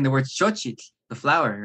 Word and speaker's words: xochitl: Well, one thing I tell people is that xochitl is actually a really good word to master because you get the sh sound, you get the ch sound, and you get the TL at the end, right?